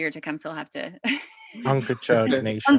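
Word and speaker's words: Unkechaug: And tomorrow our guest is Chief Harry Wallace of the, I want to pronounce it right, so maybe Reggie or Tecumseh will have to. Unkachug Nation. Unkachug, thank you.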